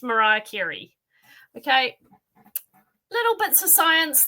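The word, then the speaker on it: Marie Curie: was distantly related to Marie cury and a guy said it's pronounced Mariah kirri okay little bits of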